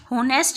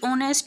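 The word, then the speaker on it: honest: होनेस्ट भी इसको, इसकी प्रोनाउंसिएशन नहीं होती, इसकी ऑनेस्ट होता है, तो इसमें क्या हुआ, एच साइलेंट।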